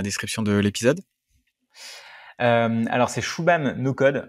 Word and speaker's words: Shubham: Alors c'est Shubham no code. Alors Shubham, ça ne s'écrit pas du tout comme ça s'entend du coup.